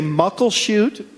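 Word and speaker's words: Muckleshoot: right and then Mike are you gonna say mukil shoot or Mucklow shoot I'm gonna say mukil shoot because a good friend of ours says that's the right way to say oh yeah we actually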